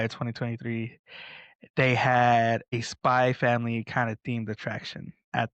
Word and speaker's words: Spy x Family: Um hey Jojo kind of like Yeah, the X is silent.